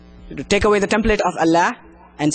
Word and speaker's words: Allah: You got to make it more thicker.